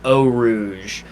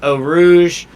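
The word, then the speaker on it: Eau Rouge: want to do i i heard today the the pronunciation of it and i think it's gonna stick in my brain they're pronouncing it oh rouge that little dippy uphill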